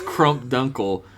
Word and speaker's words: Crump Dunkle: I think you mispronounced that name, though. What? It's Crump Dunkle, the Gravedigger.